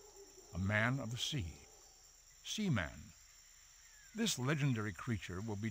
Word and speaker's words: Seaman: I would Leonard Nimoy notice that he pronounces it Seaman we're gonna try to do the same it's it's c-man all right uh yeah